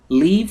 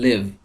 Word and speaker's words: leave: Leave the house. Leave the house. دقت بکنید به تلفظ leave با یک کشیده خونده میشه. نمیگیم live. اگر بگیم live به معنی اون live زندگی کردنه. پس خوب دقت کنید.